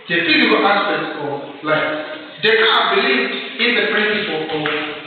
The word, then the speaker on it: Descartes: Descartes believed in the principle of dualism. Others pronounce him as Descartes. Yes? It's Descartes. Descartes. But in French it's Descartes. René, which is René Descartes. Descartes.